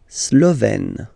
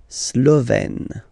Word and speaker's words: Slovène: La Slovénie, so only one form here, Slovène, Slovène. Remember, E accent grave, you open it, est, Slovène.